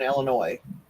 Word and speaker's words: Illinois: There's no noise in Illinois.